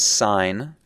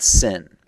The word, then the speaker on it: sine: is referred to as sign and that's pronounced just like what a stop sign would be it's not sin that's bad okay it's